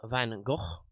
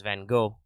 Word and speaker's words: Van Gogh: the history Vincent Willem Van Gogh and yes the Dutch pronunciation is with a little bit of guttural in there obviously I won't be